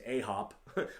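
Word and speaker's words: 아홉: look at it you look like it says a hop but it's pronounced ahop as you can see i spelled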